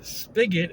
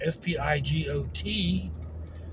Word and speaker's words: spigot: And then spigot, spigot, is an alternative pronunciation as spelling, but most people call it a faucet or a tap.